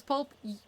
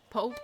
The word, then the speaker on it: Pope: Pulp Pope Pope. I'm so sorry I mispronounced your name.